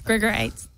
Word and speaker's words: Grigorites: name it's not good nobody pronounces it correctly it's grigorites i'm sorry gregor writes gregorites grigorites it's like a fine stone yes and uh just